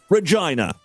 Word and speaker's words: Regina: Saskatchewan over there in Canada the answer is Regina and yes it's pronounced Regina the city is in the midst of a